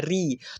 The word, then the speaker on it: ऋ: इसको पढ़ेंगे हम इसको हम पढ़ेंगे ऋ का ऐसे उच्चारण होता है ऋ तो झ में ऋ का उच्चारण करेंगे झ्री होगा झ्री झे झै झो झ झं